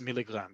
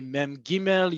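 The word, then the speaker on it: מ״ג: And you will always pronounce it as milligram. You will not say, just like you do in English, you won't um say mem gimel, you won't say anything else. It's always milligram.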